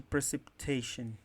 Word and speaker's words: precipitation: Me fala qual é a sílaba tônica de precipitation.